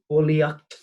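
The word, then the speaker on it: bulaíocht: Sounds like the word in English, bulliacht, Harley in skull, bulliacht, bullying at school.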